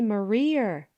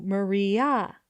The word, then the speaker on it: Maria: "You mustn't say Marier," said Margaret. "There's no to Maria."